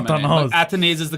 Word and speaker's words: Athanaze: a fan, and a lot of people have pronounced his names in different ways. Athanazi, मगर it is Athanaze. उसने खुद confirm किया हुआ है Ian Bishop को ही, ठीक है. Athanaz, बहुत चीजें सुनी है मैंने. Athanaze is the correct pronunciation.